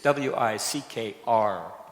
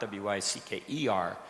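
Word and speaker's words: Wickr: application programs are wicker that's spelled without the it's WIC k are not WIC keer it was written by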